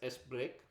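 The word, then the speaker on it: sbrk: used for that sbr k is which is pronounced as s break is an internal call so in this case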